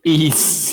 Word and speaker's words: Ys: wise because um i've what how do you pronounce this east yeah this this consonant word yeah yeah and